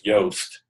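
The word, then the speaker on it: Yoast: Dutch fellow um but it's toast with a Y and we use it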